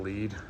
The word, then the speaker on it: Lead: It looks like Lead. It's pronounced Lead.